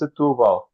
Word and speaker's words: Setúbal: You say it's Setúbal. Oh, so that was one I didn't include. Right. Yeah, Setúbal.